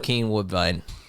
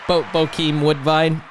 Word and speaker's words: Bokeem Woodbine: Bokeem Woodbine.